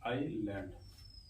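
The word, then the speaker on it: island: कब साइलेंट होता है अगर आई और एल के बीच में सस आ जाता है तो एस होता है साइ होता है जैसे य लि आई एस एल ए एनडी इसको पढ़ेंगे आईलैंड आईलैंड एक होता आ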